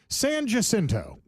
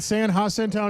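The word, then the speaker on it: San Jacinto: Sanjinto. That's right. That's right. You sure it's not San Hasinto? No, that's Saninto right there. It's got a J in it, Lane.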